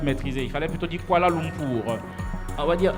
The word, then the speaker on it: Kuala Lumpur: Non, tu n'as pas les syllabes. Il fallait dire Kuala Lumpur.